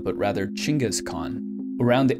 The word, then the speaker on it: Genghis Khan: founder of the mongolian empire's name is not pronounced genghis khan but rather chingas khan around 8 percent of males in the entire